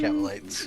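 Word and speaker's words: Kabalite: savage band of Jokari Kabbalites. Or Kabbalites, depends on how you pronounce it. This one definitely Cavalites.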